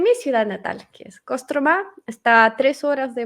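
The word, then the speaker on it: Кострома: publicidad de kostromá a kostromá se escribe y ahí se escribe con o sin kostromá pero dice dice casas trama y kamchatka se escribe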